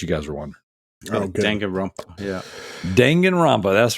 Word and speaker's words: Danganronpa: going um but yeah definitely and the proper pronunciation is Danganronpa not Danganronpa in case you guys are wondering yeah Danganronpa that's right that's right uh so we do